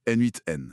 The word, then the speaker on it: n8n: Ça se prononce N8N d'ailleurs.